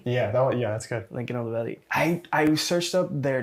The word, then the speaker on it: Lincoln Olivetti: uh Lincoln olivetti yeah that yeah that's good Lincoln olivetti I I searched up their names and tried